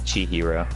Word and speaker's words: Chihiro: That's how you say it, Chihiro.